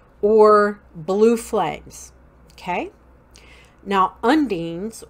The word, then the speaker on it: undines: Now, undines, or some people pronounce it ondines, O-N-D-I-N-E-S instead of U-N-D-I-N-E-S.